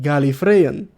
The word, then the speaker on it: Gallifreyan: gal II free and cute Gallifreyan that's how you pronounce it all right I love